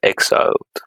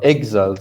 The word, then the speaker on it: exiled: Exiled. Sorry, the stress is in the first syllable.